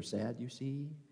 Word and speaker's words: Sadducee: of you were taught how to pronounce sadducee in Sunday school with the mnemonic saying they didn't believe in Resurrection that's because they were sad you see this is the